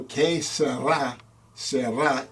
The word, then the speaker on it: che sarà, sarà: So che sarà, sarà, in Italian means what will be, will be.